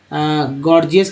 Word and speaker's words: gorgeous: जैसे गॉर्जियस का एक वर्ड ले लीजिए यहाँ पर समझने के लिए, GORGEOUS, गॉर्जियस में पहला जी जो है गौ, दूसरा जी जो है ज उच्चारण हो रहा है, गॉर्जियस, यानी पहला जी